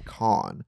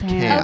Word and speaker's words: Cannes: laugh, and she goes, it's con, not can. Okay, because Hannah said it, and I'm like, I can tell that this is a joke because Hannah is saying it wrong, but I don't know the right way. Yeah, I just know it doesn't have an S.